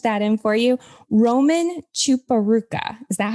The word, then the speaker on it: Chiporukha: Roman Chiporukha. Is that how you say it? That's correct. Chiporukha.